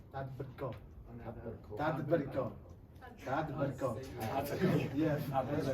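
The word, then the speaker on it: tadbirkor: It sounds like Tadberko.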